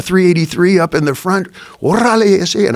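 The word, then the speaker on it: órale: Orale, and I can roll my R's. You got to roll your R's, orale.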